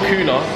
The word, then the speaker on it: kuna: There it is, that's how you say it, kuna.